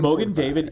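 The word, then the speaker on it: Mogen David: Mogan David is the Yiddish pronunciation of the Hebrew Magen David, which literally means shield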